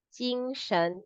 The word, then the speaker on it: 精神: 精神 is the spirit. So the pronunciation go like this. 专业专业. Then got this jin. One jin or two jin. 精神 would be like sh plus ng.